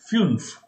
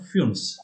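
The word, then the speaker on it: fünf: It is funf, like you. It's not you. It's umlaut you. So it becomes funf.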